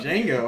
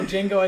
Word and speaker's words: Django: Django. No, Django as in the D is silent.